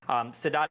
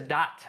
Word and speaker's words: Sadat: And this started with Sadat in Egypt.